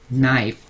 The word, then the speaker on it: knife: 자, wolf는 늑대, 그래서 복수는 wolves, leaf, 나뭇잎, leaves, knife, 첫 글자 K가 우선 발음이 안 나는 묵음이고요.